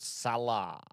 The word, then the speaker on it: Saleh: Saleh.